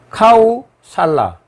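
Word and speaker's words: कोसल: 그 다음 두 번째로는 코살라라는 국가가 있는데요. 이 코살라라는 것도 고대 그 산스크리트 언어를 기준으로 해서 발음한 것이고 원칙으로는 카우살라입니다. 카우살라.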